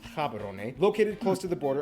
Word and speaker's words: Gaborone: largest city is gaborone if you speak setswana it's pronounced haberone located close to the